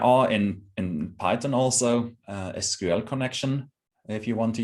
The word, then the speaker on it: SQL: of storing measurement data um sql or actually sql is how it's pronounced is um a very